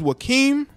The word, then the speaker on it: Joaquim: guy anyway I think his name is joaquim that is how you pronounce his name Valente she wanted to